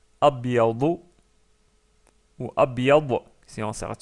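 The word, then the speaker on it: أبيض: Ensuite, la couleur blanche, c'est abyadu, abyadu ou abyad si on s'arrête sur le mot.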